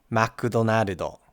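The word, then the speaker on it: マクドナルド: And you might be asking yourself, why are these words pronounced with so many extra syllables?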